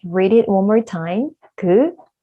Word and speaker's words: 그: You may not realize that your tongue will look like this when you pronounce 그 sound in English. So 그 sound, when you pronounce 그 in Korean, also in English, your tongue looks like this. And then the air goes up and then come out, then you will pronounce 그 like this, okay?